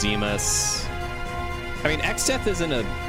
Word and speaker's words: Zemus: The final boss is Cloud of Darkness, but it's not Zeno, it's Zemus.